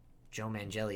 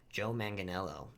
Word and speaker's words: Joe Manganiello: also destroyed uh i'm pretty sure it was joe mangelli who played uh you owe me oh i can't say his name i'm sorry joe manganiello my bad rest in peace um like i